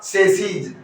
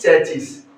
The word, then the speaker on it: chassis: और ये जो वर्ड है हमारा, इसका प्रोनाउंसिएशन क्या होगा? सैसी, न कि चैचिस। न कि चैचिस। हमें से बहुत क्या बोलते हैं, या अधिकांश लोग इसका उच्चारण क्या करते हैं? चैचिस उच्चारण करते हैं, जो कि क्या है मेरे साथियों? ऐसा करना क्या है? गलत है।